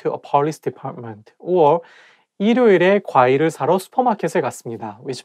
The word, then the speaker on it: 일요일: When the word has the same syllable at the beginning and at the end at the same time, it's not easy to pronounce. For example, 일요일, 일요일. If you read it syllable by syllable, you can say 일요일. But when you say it as a one word, you have to connect it together and say 일요일.